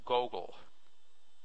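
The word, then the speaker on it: googol: Anyway, it's the name, made up name for that number is Gogol, G-O-G-O-O-L, pronounced Gogol.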